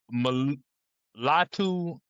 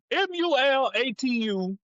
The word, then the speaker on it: Mulatu: I okay, have Mulatu Astaki. okay, I butchered the name, but it's Matalu plays Malatu plays Malatu.